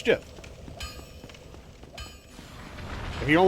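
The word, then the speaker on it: GIF: Yeah, it's pronounced Jiff.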